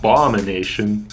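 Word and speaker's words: Abomination: rider and picking up ball mination emphasis on the second syllable are all great picks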